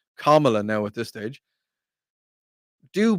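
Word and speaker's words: Kamala: on Joe Biden and I start to call on Camala Harris or whatever however you pronounce her name because I think you have to call her kamla now at this stage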